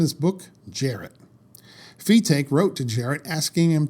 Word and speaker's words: Fetaque: Ring magazine, it says, "Fetaque, who insists that his name be correctly pronounced, like B-take, is a strong believer in